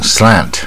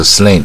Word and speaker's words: slant: 次多益，它是大卷舌蝴蝶音 slant slant 啊，你不要念成不卷舌 slant 啊，就不对，所以这个音标差很多。